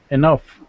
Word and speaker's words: enough: this sentence please okay all these words have the sound earth as in stuff stuff stuff so it's off all right so now these words are going to be off hubert say this word